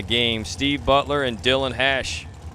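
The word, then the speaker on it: Hache: Steve Butler and Dylan Hash. It's spelled H-A-C-H-E. I'm assuming it's hash. It's not hashy or hashish, so it's hash.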